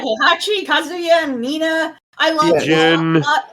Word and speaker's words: Kazuya: Yeah, Kazuya. Kazu. Okay. I also like I couldn't remember. I'm like, I know this game. Like I know this series. Why can't I'm saying it? Right, Heihachi, Kazuya, and Mina.